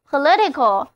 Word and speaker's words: political: 了，单词 political 就读作 political，意思就是政治的、政党的。